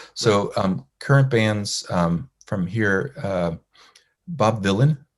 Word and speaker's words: Bob Vylan: So current bands from here, Bob Vylan with a V, spelled like Dylan, but with a V.